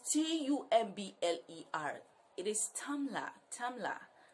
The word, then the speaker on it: Tumblr: Like, T-U-M-B-L-E-R is Tumblr. It's not Tor.